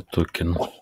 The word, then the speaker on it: токен: Только у слова «токен» ударение.